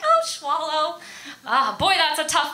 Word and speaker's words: Schwolow: to be inappropriate right and i'm like oh schwallow ah boy that's a tough one why because it's hard to spell it is s-c-h-w-o-l-o-w is not how you thought